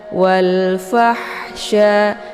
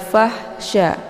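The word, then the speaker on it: والفحشاء: dikenal dengan ha pedas jadi cara bacanya fa-nya dibunyikan secara Hamas yaitu ada desis angin yang agak samar-samar walfahsya walfahsya jadi ada Hnya ya ada bunyi ha gitu jadi jangan fahsya ya kalau walfah ini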